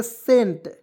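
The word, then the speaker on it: scent: तो दोस्तो इसे पढ़ेंगे सेंट क्या पढ़ेंगे दोस्तों इसमें सी को साइलेंट कीजिएगा एस से स लिखिए इ से ए की मात्रा टी का ट लिखिए एन का ऊपर बिंदी लगाइए हो गया सेंट और सेंट मीस होता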